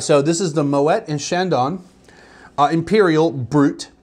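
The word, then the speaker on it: Moët: bought this oh by the way it is Moet for any of you that think I just pronounced it wrong I tell you that I was part of the camp that thought it was Moe because it's French it ends in E.T well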